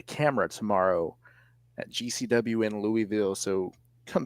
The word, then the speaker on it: Louisville: have family in Louisville so I know about Louisville yeah see that's how you say it I've